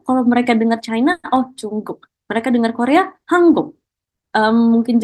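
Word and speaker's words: 중국: di sebelah kanannya untuk China, kita sebutnya dengan Chungguk. Oke, Chungguk. Jadi berbeda banget ya teman-teman ya, dari pengucapan dari bahasa Inggrisnya atau mungkin dari bahasa internasionalnya, beda banget.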